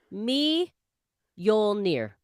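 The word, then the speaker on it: Mjölnir: gotten back to me this is how we say thor's thor's hammer's name she pronounced it me yoll near meow that's great all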